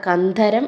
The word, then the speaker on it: കന്ധരം: നയും കൂടിച്ചേരുന്ന ദകളുടെ വ്യത്യാസമുണ്ട് ദകാരങ്ങളുടെ വ്യത്യാസം ശ്രദ്ധിക്കുക കന്ദരം എന്ന് പറഞ്ഞാൽ ഗുഹയാണ് കന്ധരം എന്ന് പറഞ്ഞാൽ ഉച്ചാരണത്തിൽ നേരിയ വ്യത്യാസമാണ് പക്ഷേ ആ വ്യത്യാസമില്ലാതെ ഉച്ചരിക്കുമ്പോൾ